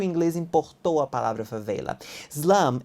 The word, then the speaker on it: favela: E a palavra favela existe em inglês com esta pronúncia, favela.